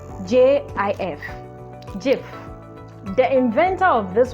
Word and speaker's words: GIF: it gif it is jif it is pronounced with a j j i f gif the inventor of